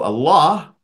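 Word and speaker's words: الله: Okay, so Allah, if you were to just pronounce it, is alif, lam with a shadda, and aha. This is how you would pronounce it.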